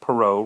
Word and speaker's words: Perot: It looks like Parrot, but it's pronounced Perot, Ross Perot.